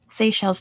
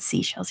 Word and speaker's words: Seychelles: knows what it's called seychelles not seashells yes seychelles the the island nation